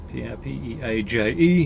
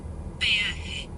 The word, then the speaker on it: peaje: Toll, P-E-A-J-E, yep. So what's it sound like? Peaje. Peaje. Peaje. There's more syllables in it than I was thinking there was going to be.